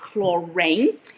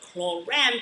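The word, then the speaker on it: Klorane: It is not chlorine. I know it's spelled R-A-N-E, but it's not pronounced chlorine. It is pronounced chlorine because this is French.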